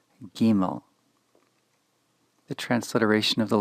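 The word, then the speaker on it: גימל: The third letter, Gimel, is written G, and then I, and then there is an angular sign above the letter I. This, together with any other letter I in transliteration, is pronounced with the E sound. So this is Gimel, not Gimel. Gimel.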